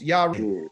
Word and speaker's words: Yahweh: It's really basically how you say it is Yahweh. Yahweh. Like hip hip hooray is Yahweh.